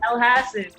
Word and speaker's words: Elhassan: Amin Elhassan. I hope I said that right. Elhassan. Close enough. There you go. Close enough. Elhassan. How you say it, Albie? Elhassan.